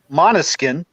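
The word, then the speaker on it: Måneskin: an italian band with a danish name it's pronounced monoskin they are from italy they this band came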